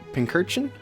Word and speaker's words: Pincurchin: Pincurchin? I've never known how to pronounce this guy's name. Pincurchin, like a pin cushion, but it's also an urchin.